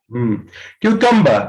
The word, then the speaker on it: cucumber: क्यूकम्बर, आर को silent कर लो, दबा दो।